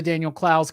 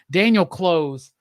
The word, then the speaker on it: Daniel Clowes: the time but very disappointed with how many youtube videos i've watched this week of people saying daniel close um finally i got